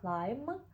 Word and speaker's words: climb: І зверніть увагу, що в дієслові clim остання буква не читається.